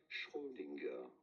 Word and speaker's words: Schrödinger: We are looking at how to pronounce the name of this Nobel Prize, Schrödinger. Erwin Schrödinger. You don't want to stress on the first.